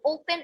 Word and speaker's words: open: So for example, the word open. So open is actually stressed on the first syllable.